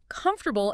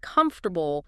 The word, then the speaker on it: comfortable: I remember a student who always stressed the wrong syllable in comfortable instead of comfortable. Small thing, but it sounded awkward.